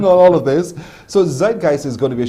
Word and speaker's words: Zeitgeist: those who are not really good at language pronounce the name of the show for us z g the show is called yeah Zeitgeist I thought so too Zeitgeist you know I